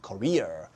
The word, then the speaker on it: career: 그래서 career. 액센트가 뒤에 있습니다. 이건 carrier. carriage인데 얘는 career. 액센트가 두 번째 있으니까 발음도 정확히 해주세요.